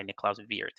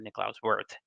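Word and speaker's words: Niklaus Wirth: was a programming language invented in 1970 by Nicola Vier okay um or has us Americans um tend to pronounce it uh Nicolas worth uh posing the joke that uh Europeans call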